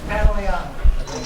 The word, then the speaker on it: Pantoliano: mentioned how a lot of people have difficulty pronouncing your surname, Pantoliano. Yep. Do I get it? Say it again. Pantoliano. It's Pantoliano.